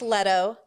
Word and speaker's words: Leto: you know you guys are hilarious um it's pronounced letto jared leto what's up v what annoyed you